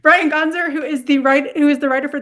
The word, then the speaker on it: Gonsar: Gonsar? Perfect. That's Oh, right. One for total one. guess. Total guess. All right, Brian Gonsar, who is the writer for the upcoming graphic novel Dracula's Brunch Club.